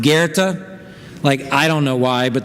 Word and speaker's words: Goethe: It's that weird name that, if you remember from school, is spelled G.O.A.T, but is pronounced Goethe.